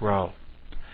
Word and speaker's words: rho: Greek letter R and spelled Rho and pronounced row well if we put